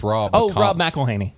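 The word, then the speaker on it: McElhenney: Oh, Rob McElhaney. McElhaney.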